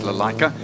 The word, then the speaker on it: Lalaika: We did go and ask, how do you say the surname? And it's Lalaika.